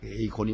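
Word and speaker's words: εἰκών: 영어로 발음할 때는 아이콘이요. 헬라어 원문대로는 에이콘입니다. 에이콘이 맞는 거죠.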